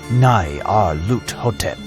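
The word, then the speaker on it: Nyarlathotep: The director of the museum pronounced it as Nai Ar Lut Hotep.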